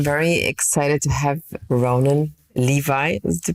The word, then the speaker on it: Levy: I'm very excited to have Ronan Levy is the pronunciation, right? Yeah, I say Levy, which confuses a lot of people, but I don't correct people too often unless they ask, so it's all good.